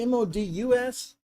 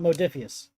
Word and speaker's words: MODUS: Is it MODUS? That's multi-operational directions and utility system. Yeah, well, you got Modus, not Modifius.